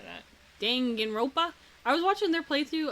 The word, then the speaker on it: Danganronpa: Oh, I was talking about You're how do you just gonna- pronounce Dangan rope Dongan Rumpa? Rumpa? How do you say it? Something like that. Danganronpa.